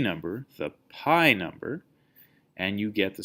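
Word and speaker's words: π: into Greek the letter P and Greek isn't pronounced P it's pronounced pi and it's written like this and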